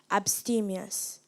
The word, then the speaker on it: abstemious: the language of origin Latin abstemious am I pronouncing the word correctly you are abstemious a B s t e m i o